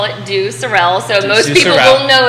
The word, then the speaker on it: Due Sorelle: normally for our English translation would call it do Sorel so most people will know it as do Sorel looking at it that's how we pronounce it